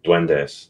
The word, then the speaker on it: duendes: But yeah, it's basically Duendes. That's how you say it.